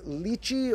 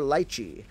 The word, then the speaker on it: lychee: But this is the fruit that is pronounced a few ways, known as lychee or lychee, or various ways people pronounce it along those lines.